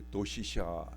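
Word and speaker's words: 同志社: 일본의 동지사 대학이라고 있어요 일본식 발음으로 하면 도시샤 대학인데이 도시샤 대학이 교도에 있는데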